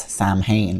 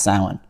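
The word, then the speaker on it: Samhain: The word Halloween comes from a word called sin, which English other English speakers often say wrongly as Sam Hayne, but it's actually pronounced sin.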